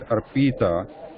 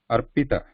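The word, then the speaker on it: अर्पित: people, other people here, the tendency is to elongate that E sound there, Arpita. But here we are trying to shorten it because it is a short E. Arpita.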